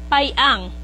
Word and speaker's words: Piang: Dato Jumar Piang or the right the right pronunciation is payang no Kasi ang mga yan is um Ah talagang yang mga yan is mga Chinese blood Kung tutuusin no ang mga Piang or payang no yan ang tamang pron pronunciation at masaya ako that